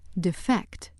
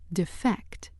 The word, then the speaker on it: defect: However, when word six functions as a verb, meaning to desert a cause or organization, it is pronounced defect. Defect.